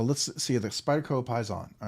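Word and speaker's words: Paysan: see the Spyder Co Pi's on all right so uh Spyderco Pon I believe it's spelled am I saying it right oh pison pison all right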